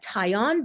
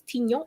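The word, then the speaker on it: tignon: as the tiny laws some pronounce it like tion but it's tinyo if you fancy atinyon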